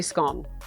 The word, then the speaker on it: scone: Like, I only ever say scone. I never say scone. So rhymes with bone.